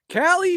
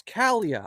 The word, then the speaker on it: Calia: Callie, save some cowboy for the rest of us, Sheriff. How's it going, Callie? It's Calia. I mispronounced it.